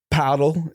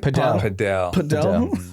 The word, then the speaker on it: padel: No, but I'm saying our age group, like my friends, they're doing like paddle. How do you say it? Padel.